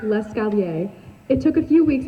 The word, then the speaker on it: l'escalier: When learning how to say stairs in French, Joey kept saying l'escalator instead of the correct l'escalier.